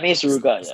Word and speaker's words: Mei Suruga: Andrew Tang, and Suruga Mei. Did I pronounce that right? Yeah, Mei Suruga.